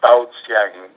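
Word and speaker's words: 爆香: a description of it b a o s y a n g is the way I pronounce it it's two separate words um and that's explosion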